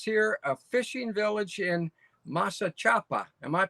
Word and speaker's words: Masachapa: think it says here a fishing village in masa chapa am i pronouncing that right or close yes you said it correctly masa chapa so one of the things when i first